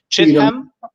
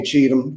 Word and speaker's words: Cheatham: I never knew how to pronounce his last name. Cheatham. We just say Cheatham.